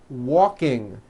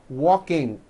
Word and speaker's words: walking: Some people who speak English as a second language have gotten into the bad habit of adding a k release sound like that after an ng ending. For example, in the word ring, it becomes ring. The word walking becomes walking. The word talking becomes talking like that.